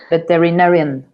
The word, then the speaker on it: veterinarian: So they arrived to the veterinary and he started Veterinarian. ¿Ves? Es que acá dice. Sí, es que no pronuncio la N, ¿verdad? No, sí tienes que pronunciarla.